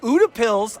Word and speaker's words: Utepils: We are here at UDAPs. I think that's how you're pronouncing it. UDAPs.